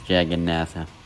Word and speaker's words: Jagannatha: if i remember correctly the proper pronunciation was jag and nasa okay then i'm gonna pronounce the jagannatha with even even more